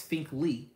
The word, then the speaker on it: Finkley: So I had to ask him how you pronounce his name yesterday. It's Finkley.